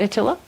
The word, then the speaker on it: Attila: Do I say it right, Attila? Yeah. Yep. Yeah.